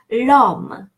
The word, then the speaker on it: l'homme: So, l'homme, le homme, the man, le homme, l'homme, l'apostrophe homme.